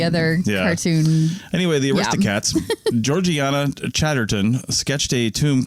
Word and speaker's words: Georgiana: When it looks like Georgiana, it's pronounced Georgiana. Georgiana?